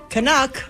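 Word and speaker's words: Canuck: becoming Kraken fans now kanuck rhymes with suck yeah okay good we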